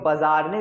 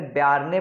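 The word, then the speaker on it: Bjarne: यहाँ पर स्पेलिंग लिखी है वो बाजारने लिखी है, लेकिन इसका प्रोनाउंसिएशन अलग अलग देशों में अलग अलग होता है, कहीं इसे बेयारने पढ़ते हैं, कहीं बीजार्न पढ़ते हैं।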